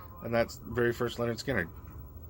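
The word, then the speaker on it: Lynyrd Skynyrd: And that's the very first Leonard Skinner. Pronounced Leonard Skinner.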